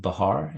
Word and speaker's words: Bahar: And Corrie, your last name is pronounced Bahar.